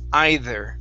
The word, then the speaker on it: either: of saying either it's either either give me a good th there is okay yes pl place your tongue between your teeth okay they're either either